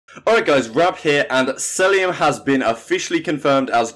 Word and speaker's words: Cellium: been confirmed here, so I'll try and pronounce it Cellium as it's meant to be pronounced. Apparently I said Cellium a couple of times last video, try and do